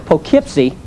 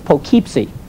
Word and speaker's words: Poughkeepsie: she said, Dad, it's Poughkeepsie. I said, Allison, I know that's how they spell it, but around here they say Poughkeepsie. Dad, if they wanted to say Poughkeepsie, they wouldn't spell it like that.